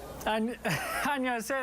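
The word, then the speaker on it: 안녕하세요: Annyeonghaseyo, that was great. That was awesome. There's a G in there, apparently, technically, like but G? Nobody pronounces it. They just say Annyeonghaseyo. Yeah, it's a soft, soft G.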